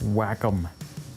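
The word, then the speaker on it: Wacom: Oh, it's pronounced whack-em.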